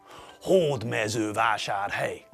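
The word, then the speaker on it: Hódmezővásárhely: In every Hungarian word, the stress falls on the first syllable. syllable. You all remember syllables, don't you? That's right. Syllables are sounds in a word. Hord mezu vashar hey.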